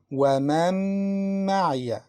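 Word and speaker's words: ومن معي: As we said, Noon is mixed in Mim. We can see Shadda above Mim. This means we don't pronounce the first letter, Noon, but we pronounce Mim twice. وَمَن مَعِيَ.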